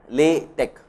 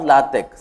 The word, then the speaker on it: LaTeX: LaTeX, tech, T-E-X. The T-E-X is pronounced like tech in technology, or LaTeX.